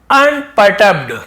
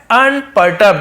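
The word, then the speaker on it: unperturbed: but Ramdas was, लेकिन रामदास उनके जो गुरु थे, वॉज थे, क्या थे, अनपर्टर्ब्ड, क्या है, अनपर्टर्ब्ड, इसका उच्चारण ऐसे करेंगे, अन है ना, अन हो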